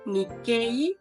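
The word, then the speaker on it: 日系: que es que también si viene una I después se alarga el sonido de la e por ejemplo descendiente de japonés escribiría así ni quei pero en japonés se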